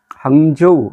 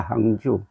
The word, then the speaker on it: 항주: 두 선수뿐만 아니라 이번 황재우 황재우 아고 하니까 어디에 있는 지명인 모르시는 분들이 많을 겁니다이 중국 지명을 중국 사람들 발음으로 소개하면 안 됩니다 이거는 그냥 한자음으로 해야 됩니다 한주입니다 항주 소주 옆에 항주 상해